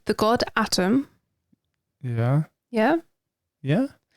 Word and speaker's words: Atum: Now, you might need to correct me if I pronounce this wrong. The god Atum. Yeah. Yeah? Yeah. Atum.